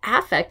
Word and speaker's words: affect: emotional connections well affect as strange as it may sound the way we pronounce it affect is about emotions through the psychology major